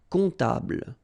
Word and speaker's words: comptable: And then, strangely, this P is not pronounced. Un comptable, all right?